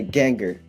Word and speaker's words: Ganger: pronounce that g-a-n a ganger so I usually say gangster without without the St okay I was gonna